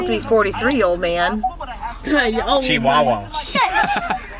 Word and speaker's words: Chihuahua: Chihuahua. Shit. It's Chihuahua. You said it wrong.